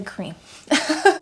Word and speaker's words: crème: It's spelled like creme, but I'm gonna say cream.